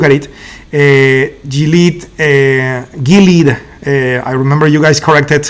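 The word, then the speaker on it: Gilead: so we look at it a delete a Gilad I remember you guys corrected how to say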